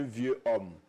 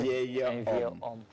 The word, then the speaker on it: vieil homme: On ne dit pas un vieux homme. On dit un vieil homme.